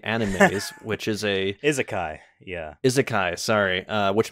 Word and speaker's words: isekai: trying my best to still like learn the pronunciation uh but this is considered it's one of the earliest isek animes which is a isekai yeah isekai sorry uh which means different world